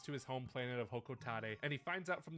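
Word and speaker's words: Hocotate: It's Hokotate. It's not Hokotate. Who? No, it's like very small potatoes, but that kind of annoys me. That annoys me when people call Hokotate Hokotate. That's not how it's pronounced, but okay.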